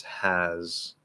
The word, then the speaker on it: has: Both has and is, they're spelled with an S, but it's a Z sound. Now, you might hear partial end of word devoicing, where you will hear an S sound at the very end of has or is, but it starts in a Z.